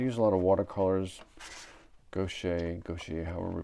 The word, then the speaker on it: gouache: Gouache, however we pronounced.